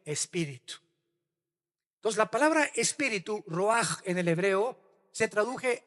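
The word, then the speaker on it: רוח: la palabra hebrea rua con ch al final que se pronuncia ruaj que se traduce espíritu. Entonces, la palabra espíritu, roaj en el hebreo, se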